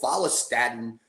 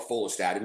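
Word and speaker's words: follistatin: It's it's called phalastatin or folstaten, whatever way you want to pronounce it.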